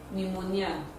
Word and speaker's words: pneumonia: is voiceless it does not reflect in the pronunciation words like sum as in p s a l n pneumonia empty psychology diaphragm photo besides school physics philosophy